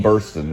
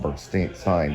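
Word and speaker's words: Burstyn: with Estelle Parson and it's Ellen Burston not Ellen Burstein but Ellen Burston is is the correct pronunciation she was in the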